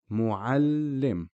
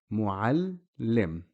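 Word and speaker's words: مُعَلِّم: Muallim. Again, here we're focusing on the lam. That's where the shadda is. Muallim. You notice the lam being pronounced twice.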